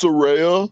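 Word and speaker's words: Saraya: First of all, it's pronounced Soraya.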